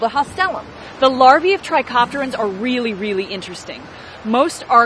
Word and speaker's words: Trichoptera: A good way to remember this order name is that hard C sound in Trichoptera. Trichoptera.